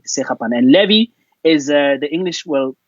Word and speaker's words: Sekgapane: Well, in my home language, which is Sotho, Yeah. we pronounce the KG as so like a German way, like Sekgapane. Okay. So it's a Sekgapane, Sekgapane, and Levy is the English the English way.